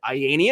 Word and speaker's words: Ayanian: get often asked and then he pronounced it ianian and I said oh it rhes with Iranian and that's how my